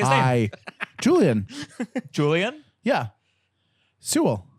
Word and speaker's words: Sewell: Sewell. Sewell.